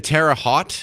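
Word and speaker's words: Terre Haute: next story we're going to go up to Tera hot is that how you pronounce it Indiana I've always seen it written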